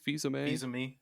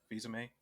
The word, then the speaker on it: Fils-Aimé: Fils-Aimé? Fils-Aimé. Oh, I'm gonna say Phil Zane because that's what I've always referred to him as.